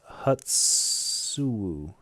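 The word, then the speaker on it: Hoochinoo: It's pronounced Hutsu.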